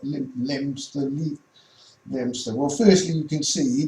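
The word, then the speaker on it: Leominster: Well, firstly, this place called Leo, or Lemster, I think it's pronounced, but Lemster.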